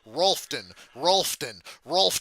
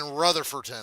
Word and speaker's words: Rutherfordton: Rolfton. It's fucking Rutherfordton.